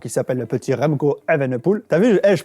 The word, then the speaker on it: Evenepoel: Pologne avec, comment il s'appelle, le petit Remco Evenepoel. T'as vu, je prononce bien Evenepoel.